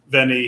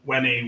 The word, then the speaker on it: veni: He may have said Veni, he might have said Wenny, we're not really sure.